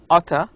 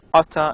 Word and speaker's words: ought to: lot of accidents here utter it's pronounced like this i utter study tonight but i think i will watch tv instead so native speakers often pronounce ought to as utter in informal speech these four people the